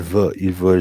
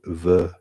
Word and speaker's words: veut: Il veut jouer au tennis. Okay, so that we don't pronounce the T. Il veut jouer au tennis.